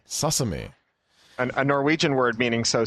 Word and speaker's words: Sosumi: I'm looking at it, trying to think of how to pronounce that. Sosumi. Sosumi.